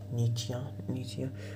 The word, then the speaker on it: Nietzsche: If you want to pronounce it correctly, if you want to be vocabularly correct, you know, politically correct, vocabularly correct, it's knee, like your knee. Nietzsche.